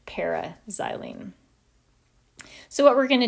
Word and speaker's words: para-xylene: We write just the letter P, but we pronounce it para-xylene.